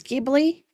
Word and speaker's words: Ghibli: Also, I think the correct way of is Gibbly with a hard G and not a soft G.